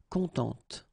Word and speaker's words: contente: this e, and then phonetically it will be a bit different. It will be contente. Okay, so masculin, content. Féminin, contente.